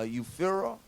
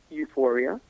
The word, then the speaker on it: Euphoria: Uh, Euphira. Can you pronounce it? Euphoria. That was that was also collapsing in that album as well. So the one you're about is is euphoria.